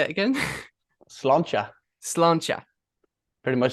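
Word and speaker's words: sláinte: me that how do you say it again slancha slancha pretty much saying thank you okay brilliant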